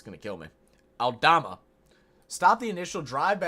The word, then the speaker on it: Aldama: uh pace and drive I keep saying his name wrong goodness it's gonna kill me aldama stop the initial drive by audama and then